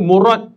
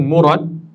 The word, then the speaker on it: murad: Murad M kalau dalam Melayu ejaannya M U R A D. Tapi kalau R tu biasa kalau kita dalam dalam Jawi ataupun dalam Arab kita baca murad. Jangan murad. Murad nama orang. Murat. Cuma dalam bahasa Melayu ejaannya tetap R a lah. Tapi dari segi lafaz arabnya murad.